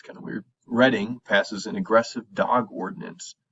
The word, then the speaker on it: Reading: Reading, Pennsylvania is the town. You pronounce it Reading. It's kind of weird. Reading passes an aggressive dog ordinance to regulate ownership of certain pet breeds, including pit bulls.